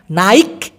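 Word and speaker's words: naik: সেতিয়াপারি ছায়া নাই বাস দেখছেন উচ্চারণটা শুনেন নাইক এভাবে কিন্তু বলি নাইক বলি নাই তো সেতিয়াপারি প্রতিদিন ছায়া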